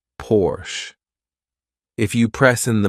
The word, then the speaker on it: Porsche: hum by the way some Americans say Porche which I think is really wrong because the car is produced in Germany and in Germany you say Porsche if you press in